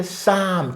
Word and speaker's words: Psalm: 시편 할 때 Psalm 기분 나쁘죠? P도 묵음이고 L도 묵음이에요.